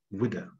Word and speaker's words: Ouidah: It's pronounced Ouidah, that's how it's pronounced. So in English, it'd be spelled with a W, which is what happened here, the Ouidah galley.